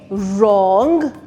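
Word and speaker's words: wrong: हो रहा है तो ये वर नहीं होगा ये र से स्टार्ट होगा ठीक है क्योंकि डब्लू साइलेंट है वो क्यों क्योंकि वो आर से पहले आ रहा है तो पहला वर्ड है रंग रिस्ट रोट एंड रैप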